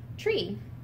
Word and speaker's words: three: to bahamians is that they do not pronounce the letter h in some words for example the word three which is spelled t-h-r-e-e instead of would be pronounced tree and the word this